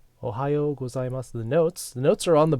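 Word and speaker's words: おはようございます: Ohayo gozaimasu. Ohayo gozaimasu. The notes are on the board right here. Ohayo gozaimasu. Notice the U is almost silent there. One more time. Ohayo gozaimasu.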